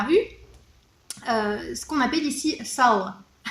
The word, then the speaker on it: salo: ce qu'on appelle ici sal. Sal, ça s'écrit salo, S-A-L-O, donc pas comme en français, mais au niveau de la prononciation c'est sal.